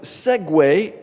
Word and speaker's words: segue: palav seg em inglês no inglês americano Esta palavra quer dizer é pronunciado Segway igual a máquina de duas rodas Segway e quer dizer